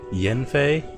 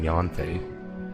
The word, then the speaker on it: Yanfei: pretty excited here because jen fei that's how granny pronounced it i might have to go back in the character screen i've been saying yanfei so that's what it